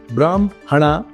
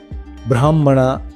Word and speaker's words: ಬ್ರಾಹ್ಮಣ: ಹೇಳಬೇಕು ಅಂತಾರಲ್ಲ ಅದೆಲ್ಲ ತಪ್ಪು ಉದಾಹರಣೆಗೆ ಬ್ರಾಹ್ಮ ಹಣ ಅನ್ನಲ್ಲ ಬ್ರಾಹ್ಮಣ ಅಂತನೆ ಅನ್ನೋದು ಇದೇ ಸರಿ ಅಂತ ಏನಾದ್ರೂ ಉಲ್ಟಾ ಹೇಳಿದ್ರೆ ಮೊದಲನೆದಾಗಿ ಶಾಸ್ತ್ರದ ವಿರುದ್ಧ ಆಗುತ್ತೆ ಎರಡನೆದಾಗಿ ಬರೆಯೋದೊಂದು ಓದೋದೊಂದು ಅನ್ನೋ ದೋಷಕ್ಕೆ ನಮ್ಮ ಭಾಷೆ ಗುರಿಯಾಗುತ್ತೆ ಹ್ಮ್.